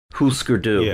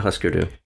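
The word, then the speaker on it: Hüsker Dü: yeah it is husar I remember being corrected once huskeroo not Husker do and I did look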